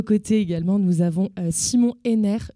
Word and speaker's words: Henner: À nos côtés également, nous avons Simon Henner. Je ne t'ai pas demandé si ton nom se prononce bien comme ça ou si c'est Henner. C'est parfait, ça se prononce c'est comme ça.